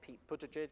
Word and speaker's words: Buttigieg: there was something about, and I'll pronounce his name wrong, Pete Buttigieg.